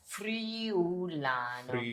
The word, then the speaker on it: Friulano: Okay, first of all, how do you pronounce Friulano. Can you do it slowly? Friulano. So Friulano, like free day.